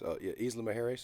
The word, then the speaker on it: Isla Mujeres: And we go down to Isla Mujeres. Isla Mujeres is how it's pronounced.